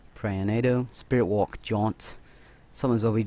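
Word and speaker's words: Piranhado: um skills play with toads explosive so it's pronounced prayer nado spirit walk jaunt summons OV dogs burning dogs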